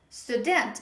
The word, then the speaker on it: student: they pronounce like student student because this is how they pronounce in their language but in english the stress is at the beginning of a word on the first syllable instead of saying sudent